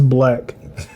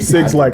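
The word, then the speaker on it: 6lack: No, it's Black. Those are the niggas Yeah, that and say then- to Django. Facts. But I started calling him 6 Lack after that.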